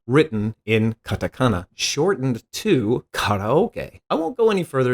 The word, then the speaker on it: karaoke: is in fact karaoke notice that I said karaoke and not care Yoki it's original spelling is the first syllable is actually a kanji meaning Sky empty